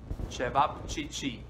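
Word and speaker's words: ćevapčići: you some traditional fast food in bosnia called chavachichi and i know what you think what yeah this is how you spell it and this is i know a tongue breaker try to save chevap chi chi and this is how they made served and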